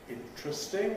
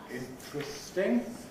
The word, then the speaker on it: interesting: Pronounce just sounds interesting. Various ways of saying that word. I gave you interesting. Not interesting and not interesting. Certainly not interesting.